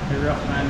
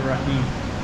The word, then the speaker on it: Bismillah ar-Rahman ar-Rahim: Bismillah ar-Rahman ar-Rahim. Safe food. How do you say it? Bismillah.